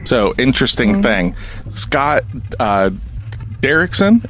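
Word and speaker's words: Derrickson: interesting thing Scott uh derkson is that how you pronounce his last name oh I did okay cool Scott derkson um this is what I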